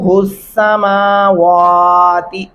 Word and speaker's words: السماوات: کرسیہ السماوات، سماوات نہیں پڑھنا. میں نے پیچھے بھی آپ کو بتایا میم کے اوپر کھڑی زبر ہے.